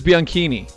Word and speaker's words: Bianchini: So like bikini, but like Bianchini. So it is Bianchini.